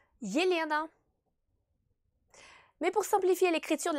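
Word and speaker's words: Елена: Dans ce cas, elle ne se prononce pas I, mais Y. Y plus I. Yelena.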